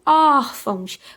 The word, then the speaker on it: órfãos: Então, órfãos. Qual é a sílaba aí que é a sílaba tônica, né? É o or, que é a penúltima sílaba, né, gente? Então, or é um som, o quê? É um som aberto, então vai ser o quê? Acento agudo.